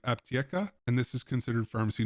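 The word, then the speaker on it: Аптека: of us North Americans looks like Antica, but I have been corrected that it is pronounced Aptieka, and this is considered pharmacy number 1 for this task.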